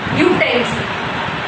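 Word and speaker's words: utensil: लिखेंगे कैसे हिंदी में प्रोनाउंसिएशन कैसे करेंगे य, यूटेंसिल। तो य क्या है हमारा व्यंजन है, व्यंजन का साउंड आ रहा है सबसे पहले तो हम किसका यूज करेंगे।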